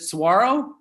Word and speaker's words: saguaro: you have to know is it is it saguaro there you go okay and what was the